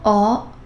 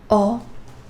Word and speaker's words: ho: And yes, H, H is silent. Io, ho, tu, hai, lui, lei, ha, noi abbiamo, voi avete, loro hanno.